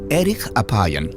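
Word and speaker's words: ארך אפים: En hebreo, la frase lento para la ira se pronuncia erich apayan, literalmente de larga nariz.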